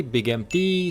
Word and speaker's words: Big MT: The place being called Big Mountain, which is shortened to Big MT, and if you pronounce things quickly, Big MT sounds like Big Empty, which is very apropos